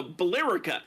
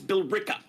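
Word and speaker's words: Billerica: all over the place I live next to a town that is spelled b i l l e r i CA now a normal person looking that would think it was uh Boler no it's Bela yeah what about what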